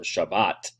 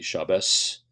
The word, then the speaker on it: Shabbat: Ashkenazi pronunciation to be Shabbos but the modern Hebrew follows the Sephardic pronunciation so anyway that's just